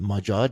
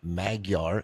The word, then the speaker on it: Majad: Again, that's as I say on every episode, Majad, not Maguar Investments.